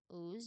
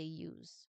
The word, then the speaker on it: use: So, that sound is hidden or implied by the way the U is pronounced in this context. So, we don't say oohs, we say use.